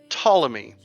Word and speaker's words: Ptolemy: don't have any clue I'm gonna go with Ptolemy I'm gonna say the p is silent like yeah so uh